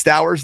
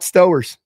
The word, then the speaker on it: Stowers: I got to learn the pronunciation. It's Stowers, not Stowers.